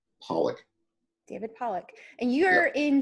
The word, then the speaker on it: Pollak: and how do you say your last name Pollock David Pollock and you're in some kind of